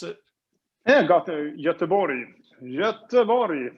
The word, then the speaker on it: Göteborg: Is that how you pronounce it? Yeah, Göteborg. Göteborg. It's probably if you're local, but Okay. we shouldn't make fun of how people talk. So I say Göteborg.